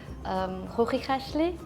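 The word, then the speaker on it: Chuchichäschtli: And the most funny word, we usually let the people pronounce it. It's one of the difficult Swiss German words. It's like Hochikashli.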